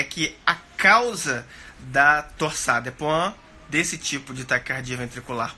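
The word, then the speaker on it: torsades de pointes: Se escreve torsades des Pointes. Se fala torsade de Pointes.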